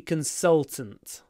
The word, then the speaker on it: consultant: works as a security consultant so consultation consultant consultant consultant to get that L try to use this part of your tongue consultant consultant the next